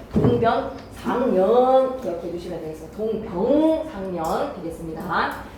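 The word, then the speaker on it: 동병상련: 동병상년 되겠습니다. 발음 조심하세요. 동병상년입니다.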